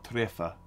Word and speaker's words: träffa: So you say hyggelig å träffa, tre, it's TR, so it's tre, you say it like that.